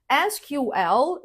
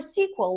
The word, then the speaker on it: SQL: SQL, saying each letter separately, or SQL. SQL like FBI, or sequel like a movie sequel.